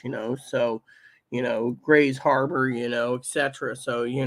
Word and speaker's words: Grays Harbor: Washington pretty much you know so you know Grays Harbor you know Etc so you know now there's